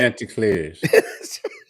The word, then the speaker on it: Chanticleers: And by the way, you do know how to pronounce Coastal Carolina's nickname, don't you? After that. Chanticleers.